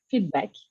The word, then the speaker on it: feedback: um i've learned that the feedback word it doesn't have s on the end so it's like feedback so thanks for that